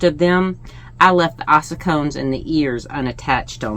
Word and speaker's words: ossicone: So at first it looks like ossicone. And that ossicone is how they say it in the UK. Ossicone, A-H sound, ossicone is how they say it here in the US, supposedly, according to Google.